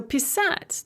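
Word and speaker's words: писать: in the other forms so pissat to write the stress is on the second syllable the stress switches or it shifts to the first syllable it moves one syllable towards the beginning of the verb notice that we have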